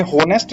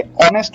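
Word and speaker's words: honest: ऐसे second example में आप देखिए ऑनेस्ट गर्ल, ये होनेस्ट नहीं होता बेटा, ये ऑनेस्ट होता है।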